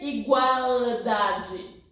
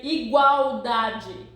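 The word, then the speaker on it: igualdade: see here equal Daddy we don't say igual Daddy pay attention hey hey hello hello pay attention here you don't say igual Dad no you say iguodaji in Portuguese if the letter L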